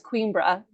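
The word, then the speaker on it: Coimbra: we yeah oh yeah it's Queen BR by the way how you pronounce it I would never have known that until I went there Queen BR we go down south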